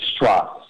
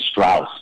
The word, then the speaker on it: Stross: It's actually Stross. Stross. So it's O instead of the U, because a lot of people want to say Strauss, but it's actually Stross.